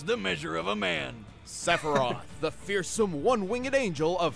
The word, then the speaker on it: Sephiroth: The closest I have is Sephiroth. There we go, that's how we pronounce it.